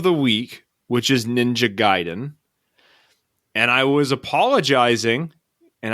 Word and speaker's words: Gaiden: be all pissed off if you call it ninja gaiden it's actually gaiden so i know that's the wrong way to pronounce it but i'm undoing 30-something